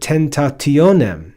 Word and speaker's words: tentationem: But then we see the word tentationem, which has a bunch of syllables, but we hear that the accent is on the second to last syllable.